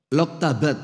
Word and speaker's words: Loktabat: Hadirin sekalian, ibu-ibu dan bapak-bapak jamaah Masjid Hajah Nuriyah Loktadat. Loktabat, oh kebalik bacanya.